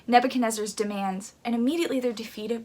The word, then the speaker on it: Nebuchadnezzar: this they hear this situation they hear king nebuchadnezzar's oh i said his name wrong nebuchadnezzar's demands and immediately they're defeated by it immediately